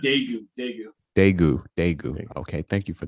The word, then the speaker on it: Daegu: Also, by the way, it's pronounced Daegu.